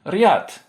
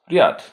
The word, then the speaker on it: ряд: This contrasts with so-called soft consonants, where the front of the tongue is brought close to the hard palate, giving a higher pitched, palatalized sound. Examples include rad, glad, and riad, row or line. Rad, riad, rad, riad.